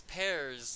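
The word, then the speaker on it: Pers: the show so it's pears like it's spelled like p-e-r-s but it's pronounced pear that's interesting another French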